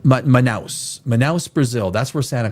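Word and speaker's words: Manaus: So, it's pronounced Manouse.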